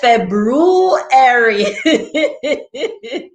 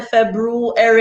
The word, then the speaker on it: February: like her too so february so we used to pronounce that r but technically it's not supposed to be pronounced this is the r